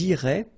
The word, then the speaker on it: iraient: So ils iraient, and then if you look carefully, you get A-I-E-N-T. Okay, but then phonetically it goes like E. Okay, so technically these form and these forms here are pronounced the same way, and it goes like irait.